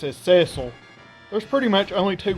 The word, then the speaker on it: Cecil: World of Final Fantasy, and his name is pronounced Cecil in every single one of those games, making it extremely clear that that is the correct pronunciation.